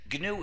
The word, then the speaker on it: GNU: better than that because GNU is the most humor charged word in the English language used in countless word plays because according to the dictionary the g is silent and it's pronounced new so every time you